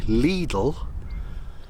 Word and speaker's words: Lidl: Bread from Lidl, nice, or as my grandma used to say, Lidl, because apparently that's how you meant to pronounce it, but whatevs.